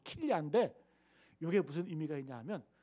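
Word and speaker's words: כליה: 그래가지고 히브리 성경 원문을 찾아보니까 이 양심이라는 단어가 킬야, 히브리 발음으로 킬야인데, 이게 무슨 의미가 있냐 하면, 여러분 우리 몸에 보면 장기도 있잖아요. 없어요? 심장이 있고 간도 있잖아요. 근데 이 킬야가 뭐냐면 우리 그 콩팥, 신장을 뜻해요.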